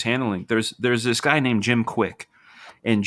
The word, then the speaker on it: Kwik: There's this guy named Jim Quick, and it's spelled KWIK.